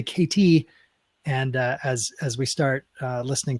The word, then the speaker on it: Katie: She also explained to me that people often pronounce her name wrong, Katie with a D, when it's actually KT.